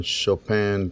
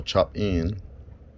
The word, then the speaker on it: Chopin: According to some people, it was named after that composer Chopin, the classical guy, I guess. I don't know. Yeah, so it's not chopping or chop in, it's Chopin.